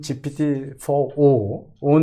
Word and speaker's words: GPT-4o: 어제 뉴스에 나왔던 GPT-4o 는 네. 이제 옴니라는 말에 네, 여기서 O라고 읽군요. 네. 0이 아니고 옵니다.